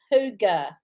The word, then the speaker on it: hygge: just found out how to say it it's hygge homestand help me remember that cause i'll forget